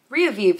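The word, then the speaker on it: Rievive: It's R-I-E-V-I-V-E. So I think it's Riavive or Riavive. Riavive sounds right.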